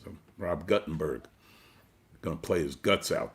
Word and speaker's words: Guttenberg: Okay, so we're gonna move now over to our next artist, Rob Guttenberg, formerly known as Rob Guttenberg, but I'm gonna try and correct my pronunciation after 25 years. So Rob Guttenberg, gonna play his guts out.